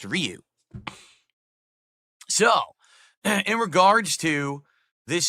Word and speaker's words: Ryu: for the longest time everyone said it was rayu in Street Fighter no one knew it was pronounced Ryu so in regards to